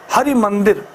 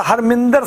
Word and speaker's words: हरि मंदिर: अगर किसी सिख से पूछोगे तो कहेगा हरमिंदर साहिब जा रहे हो, पंजाबी उच्चारण की गलती है, हरमिंदर साहिब जा रहे हैं, हरमिंदर नहीं है, वो हरि मंदिर है उसका नाम।